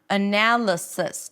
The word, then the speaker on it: analysis: And then the singular form has an S, an E as in sit, and another S. Sis. Sis. Like sister. Sister. Hey sis. What's up? Sis. Okay. Now, one thing I have to tell you about the e sound. When it's not the primary stress, then sometimes people tend to drop it into awah. Make it awah. Sis. So, you might hear that analysis, twowas.